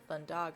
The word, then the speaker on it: Thundaga: Thundaga.